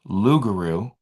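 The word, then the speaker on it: loup-garou: Maybe when the Acadians were exiled from France, they brought the legend of the loopuru pronounced lugaroo. So I pronounced it wrong when reading it uh to Nova Scotia and later on Louisiana.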